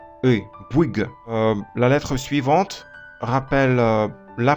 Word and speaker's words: Bouygues: Donc si on combine OU et Y, et on prononce à la fois OU, I, on dit Bouygues, très vite. Et on a ce son E, Bouygues.